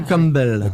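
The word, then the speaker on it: Campbell: Tu prononces bien parce que c'est écossais comme truc. Clan Cumble.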